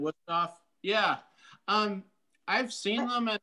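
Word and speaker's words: Wüsthof: There's an F at the end, Wusthof.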